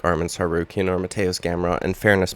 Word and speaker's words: Tsarukyan: going to fight Arman Tsarukyan, whose name has a silent T in it.